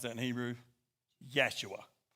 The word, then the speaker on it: Yeshua: He had a brother named Joshua, which is, anybody know how to pronounce that in Hebrew? Yeshua. Yeshua.